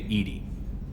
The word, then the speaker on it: EDI: have a specific inquiry why are you named Edy Ed is the phonetic pronunciation of Eed that is an acronym for